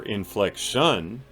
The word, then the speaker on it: inflection: have certain inflections like the word inflection has three syllables and one syllable is stronger than the others it's not inflection or inflection it's inflection so you can still